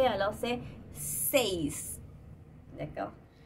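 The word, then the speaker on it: seis: En français, quand on met un E et après un I, on dit E seulement. Mais, bien, en espagnol, c'est pas pareil. On doit tout prononcer, alors c'est 6.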